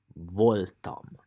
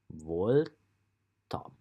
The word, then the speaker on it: voltam: You just have to pronounce it. And then Voltam. Voltam.